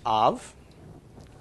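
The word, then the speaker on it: אב: the olive all right this is pronounced off it means father okay pronunciation comes from the olive is silent comets and move to the pronunciation of the vowel underneath so the comets makes the short a sound followed by the bait with no doggish makes a V sound and Hebrew is read right to left okay so put all together silent ah and then a V so the full pronunciation is off okay which is fathered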